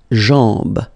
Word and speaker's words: jambe: Okay, remember, A-M, when you combine these two, basically it's just like A-N, so it's nasal and it's en. Okay, so you get la jambe.